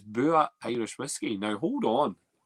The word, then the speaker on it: Bua: Pronounced Bua.